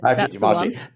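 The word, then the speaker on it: Demarchelier: But take us through how you met Mario Testino and I never know quite how to pronounce his name, but Patrick de Marchelier. That's it. Patrick de Marchelier.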